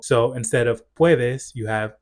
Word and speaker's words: podés: Relatedly, for verbs that have a vowel changing stem, you'll notice that they don't have that vowel change because the stress no longer falls on that syllable. So instead of puedes, you have podés.